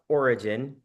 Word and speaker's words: ORYGN: Origin, or pronounced Origin, and ORYGN is the name of the company.